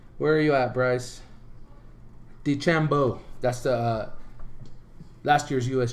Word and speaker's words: DeChambeau: I know Bryson, I can't think of his last name, but Bryson Chambro, I think is how you say his last name. Where are you at, Bryce? DeChambeau.